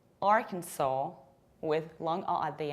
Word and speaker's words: Arkansas: We pronounce this state as Arkansas, Arkansas, with long A at the end, saw, or another potential pronunciation is Arkansas, Arkansas, with long A at the end. S is not pronounced at all.